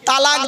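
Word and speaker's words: طلاق: আরে ভাই বলুন না, শব্দটা কিন্তু তালাক নয়। শব্দটা তালাক বলবেন না কেউ, শব্দটা হলো তলাক। কি বললাম? তলাক। ওর আরবি উচ্চারণ কি? তোয় লামালিফ কফ। বাংলা উচ্চারণ কি? তয়বায় লয়াকার ক।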